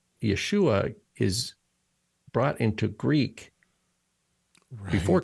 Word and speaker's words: Yeshua: a transliteration of the Aramaic word Yeshua but there's no sh sound in Greek so they use a sigma right they use the S sound and the idea is that people who know will pronounce it like a shin you know um and